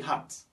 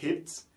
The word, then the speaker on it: hat: Par exemple, ici, pour dire H-A-T là, on prononce ça comme hat. We say hat. Pourquoi on dit hat? On ne dit pas hit.